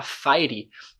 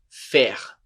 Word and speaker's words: faire: Faire, a gente não fala fire, o som de AI é, faire.